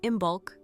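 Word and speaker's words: Imbolc: Imbulk, pronounced imbulk, was not loud, not sudden.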